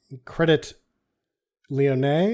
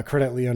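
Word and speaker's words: Crédit Lyonnais: Europe taking money from credit Leon I think is how you say it it's spelled credit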